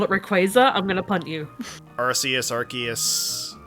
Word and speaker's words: Rayquaza: Then again, I know this is also treading into the Rayquaza territory, which don't get me started on that. It's Rayquaza. It's Rayquaza. If you call it Rayquaza, I'm gonna punt you.